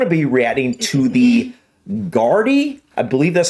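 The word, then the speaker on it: Gardaí: Irish pronunciation website, and it said Gardai or Garthi. Wasn't that what you heard? Gardai. I believe it's Gardai. But anyways, guys, so we're going to look at a funny compilation of the Gardai or Irish police.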